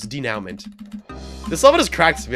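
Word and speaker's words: dénouement: Also, you're pronouncing it wrong. I figured I was. Denouement.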